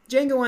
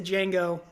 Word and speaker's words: Django: sits down next to Django and he's like what's your name Django can you spell it deejay a and Gio the D is silent and he looks at